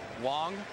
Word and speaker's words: Wang: is chin ming wong spelled wang but pronounced wong and this guy is 6-0 in day games this year he must be hard to pick up and tom he's a big fella wong goes 6-3 220 he's